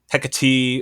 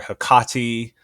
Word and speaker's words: Hecate: more akin to uh, Hecati or Hakkati. Um, but I pronounce it the way that I learned to pronounce it, which is through reading Shakespeare, uh, specifically McBTH, where